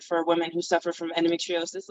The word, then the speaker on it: endometriosis: So tell us more about what endometriosis is.